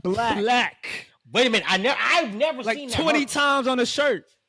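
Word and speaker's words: 6lack: Bro, his merch literally say 6 lakh pronounced black.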